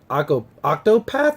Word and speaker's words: Octopath: that we talked about last week, Octopath, I believe is how you say it.